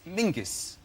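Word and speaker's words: Menzies: His name is Mingus. Mingus. Yes. Goth. Yeah. Mus. Yeah. But it's pronounced it's it's spelled M E N Z I E S.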